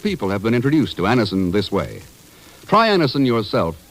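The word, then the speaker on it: Anacin: what many thousands have known for years that Anison brings incredibly fast effective relief Anison is like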